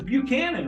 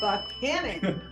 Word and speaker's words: Buchanan: James Buchanan, right? No, that's not the way they pronounce That's it. James Buchanan. No, Oh, sorry. it's Buchanan. Buchanan with an accent on the second syllable.